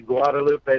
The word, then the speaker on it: Guadalupe: Guadalupe is that correct yes sir it's actually Guadalupe terrific lawyer okay and why don't you just